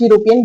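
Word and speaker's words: European: अब देखिए हमें इसकी स्पेलिंग पे नहीं जाना, हमें इसको बोल के देखना है। बोलिए यूरोपियन, यूरोपियन, यूरोपियन किससे शुरू है, यू से, और यू जो है वो एक व्यंजन है, यानी कि कॉन्सोनेंट है, स्वर तो नहीं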